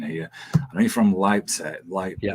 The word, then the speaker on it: Leipzig: Um, I know you're from, and I'm probably going to butcher the pronunciation here. I know you're from Leipzig. Yeah, Leipzig.